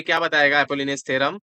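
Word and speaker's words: Apollonius: एक और चीज होगा जिसको बोलते हैं अपोलिनियस थ्योरम। अपोलिनियस बोलते हैं ना? हाँ, अपोलोनियस थ्योरम। ठीक है, अपोलिनियस, यार स्पेलिंग क्या है इसका?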